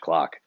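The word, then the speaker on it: Klock: is spelled and clock is spelled k-l-o-c-k so neither of those words starts the way that you think it would um okay cool so uh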